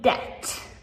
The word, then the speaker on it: debt: And then lastly, debt. Debt is spelled d e b t.